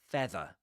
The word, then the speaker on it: feather: Another feather. Right? Another feather. Without pronouncing the final r.